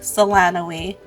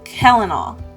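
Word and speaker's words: Celanawe: Based on the spelling, it looks like Selanoe, but is in fact pronounced Kellenal.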